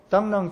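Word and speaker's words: 螳螂: 나오는 당랑도 철이라는 이야기입니다 중국어 발음으로 땅랑 짓죠 땅랑인데 사막이 당 자 사막이랑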